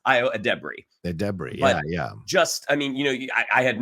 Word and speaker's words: Edebiri: So I think it's Ayo Edebiri.